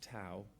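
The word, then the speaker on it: tau: particular protein which is probably supposed to be pronounced to but has been anglicized to be pronounced tow um that is found in PPA syndromes and actually it's found across many syndromes.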